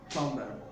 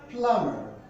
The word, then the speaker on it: plumber: it's not pronounced as bomber but it's pronounced as a plumber the letter b is silent now let's look at